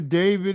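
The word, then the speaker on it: d4vd: The car is registered to a singer named David. It's spelled D4 VD and the body is that of a 15year-old girl going missing when she was 13.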